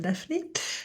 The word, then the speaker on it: Daphné: Je prononce à la française Simon and Daphne.